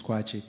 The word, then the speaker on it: Kwakye: It's K W A K Y E but the actual pronunciation is quatchi.